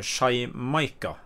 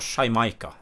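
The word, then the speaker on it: Xaymayca: Ja, det ligner veldig mye på det så det i dag, men det startet med bokstaven X, men uttales sånn cirka da Shymaika. Altså da er det X-A-Y-M-A-Y-C-A. Ja. Så Shymaika.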